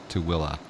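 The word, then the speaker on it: Tooele: to Ellie yeah a smarts that's exactly correct to Willa to Willa but you wouldn't think that with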